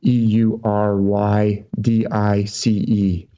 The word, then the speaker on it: Eurydice: with the beautiful Eurydice it spelled like Yuri dicey EU ry d IC e so Eurydice on the